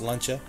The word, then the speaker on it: Lancia: have a whole lot here we have this lunch hour or Lancia however you want to pronounce that in Italy it's pronounced lunch ax and then we have this Opel over here